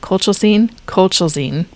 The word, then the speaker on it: colchicine: Colchicine?